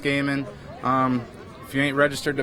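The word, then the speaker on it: Goeman: audience um but justin last name spelled g-o-e m-a-n pronounced gaming if you ain't registered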